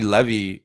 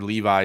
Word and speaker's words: Levi: of like I like Zachary Levy um or Levi depending on you know how you pronounce it what side of the world you're on I kind of like